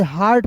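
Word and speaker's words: heart: देखिए एच ई ए आर टी तो इसे हार्ट पढ़ते हैं। ठीक है? इसे हेट क्यों नहीं पढ़ते हैं?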